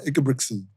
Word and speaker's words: Ingebrigtsen: We're going to talk about Ingebrigtsen.